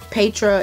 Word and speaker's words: Petra: Petra, it could be pronounced Petra, but my sister's name is Petra, and it's spelled exactly like this is on this box, so I'm going to call it Petra.